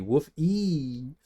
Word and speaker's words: Wolfie: No, it's a matter of pronunciation, so it would be woof-ee.